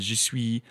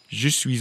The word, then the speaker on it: je suis: The word je suis, you don't usually pronounce the S at the end unless the next word begins with a vowel.